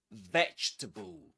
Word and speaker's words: vegetable: vegetable. You say it. And let's repeat the next word, too. Comfortable. Comfortable. Okay. Three syllables in both.